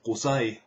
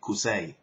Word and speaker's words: Qusay: And if you're pronouncing Qusay with an English or American accent, it's going to be Qusay. And that's like, it sounds like my vagina.